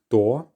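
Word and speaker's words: кто: the fourth word was maybe you find it hard to combine those two consonant sounds at the start but just try your best door and this means who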